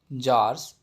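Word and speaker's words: tsars: He lived in Russia during the rule of द जार्स और empires. जो Russia के जो एम्पायर्स, जो शासक हुआ करते थे ना, उनको हम जार्स पर बोलते हैं। सी यहाँ पे साइलेंट रहेगा।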